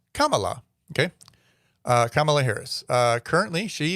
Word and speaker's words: Kamala: You know, obviously he did pick Kamala Harris, and it is pronounced Kamala. So think of like the word comma and with la. Kamala.